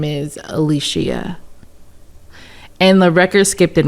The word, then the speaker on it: Alishia: Cuz I've been correcting people the opposite, saying that it's No, it's not Alicia, it's Alicia. So, yeah. So, my my actual pronunciation is Alicia, but I don't.